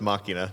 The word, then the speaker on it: Machina: go way back first it's pronounced Machina not m whatever second Aura okay A